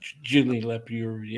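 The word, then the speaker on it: Julien Leparoux: Julien Lepereux. Yeah, I should ask Tom because Tom has all those pronunciations.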